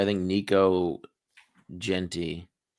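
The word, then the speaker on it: Jeanty: Gentry. Gent Gentry. Gent added a letter. It's like Gen Z but with a t-shirt. Ashton Genty. Genty. Yes. We've literally said it wrong every time.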